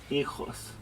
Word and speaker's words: hijos: Yo tengo 2 hijos. So I have 6 children. I have 4 daughters, hijas. Notice the H is silent, right? So we don't want to pronounce that H.